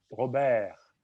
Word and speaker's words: Robert: Alors, Robert, à la fin, le R qui vient à la fin de Robert doit être prononcé, mais là, il est faible. Robert.